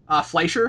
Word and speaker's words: Fleischer: pronounce that? Fleischer?